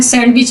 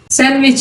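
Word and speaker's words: sandwich: Handkerchief, इसको ये गलत आम हो चुका है, सैंडविच हम बोलते हैं सैंडविच। सैंडविच इसकी सही प्रोनाउंसिएशन है।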